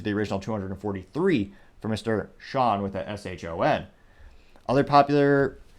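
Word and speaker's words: Shon: Someone by the name of Sean Phillips, but it's spelled S-H-O-N.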